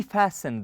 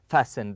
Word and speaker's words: fasten: to your seat we fasten the seat belt okay we fasten the T here is silent we fasten the seat